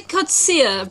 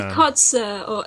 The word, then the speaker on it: Kotze: I'm with my good friend, Kotze. Is that how you say it? It's actually Kotzia, but Kotzia. You can say Kotze as well. It's okay. In South African surname.